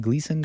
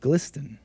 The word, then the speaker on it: GLSEN: organization is called glsen Gleason Gelson might as well might as well be nambola glisten oh hake knows ah it's pronounced glisten hake knows might as